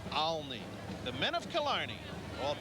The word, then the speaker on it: Olney: old stomping grounds yeah some say colony follow me if you're a native Philadelphia's a lot of I guess the real pronounced ER is Olney the men of Killarney